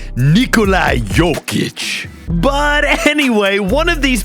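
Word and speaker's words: Jokić: And here's a hint, you actually say it. Nikolai Yic.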